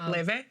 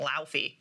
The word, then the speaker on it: Laufey: Wait, Leve? Yeah. Okay, I learned how to pronounce her name for this because I only learned about her because Hudson Williams was in her music video.